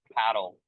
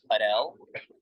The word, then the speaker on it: padel: I mean, so I've been calling it just paddle for 5 years, but then at our club this year they wanted us to start calling it Padel. And I think the reason that they wanted to call it Padel, not only at our club but all around the U.S., is to help differentiate the sport from other sports.